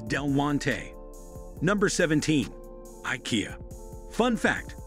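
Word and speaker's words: Del Monte: When it comes to pronouncing Delmonte, a great number of people split it into two syllables instead of three. This changes the pronunciation from Del-mon-tay to Delmont. Notice the difference once again, the correct pronunciation is Del-mon-tay.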